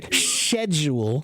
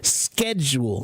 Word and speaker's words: schedule: there's a a uh the original pronunciation in Greek was more like an SK sound SK SK SC Not sh sh sh so they say schedule and we say schedule and guess who's right so yeah yeah so